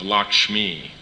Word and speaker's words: Lakshmi: It's the English it's the English accepting the Bengali pronunciation of Lakshmi. You understand? Bengalis don't say ksha, they say ka. So they say lucky.